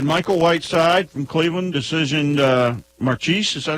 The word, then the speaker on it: Marchese: We had Michael Whiteside from Cleveland, decisioned Marchese. Is that how you say it? Marchese?